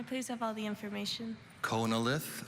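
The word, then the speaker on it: chonolith: have all the information konalith also pronounced connilith is a noun this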